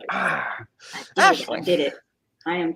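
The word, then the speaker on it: Aisling: The name is pronounced Ashling. Ashling.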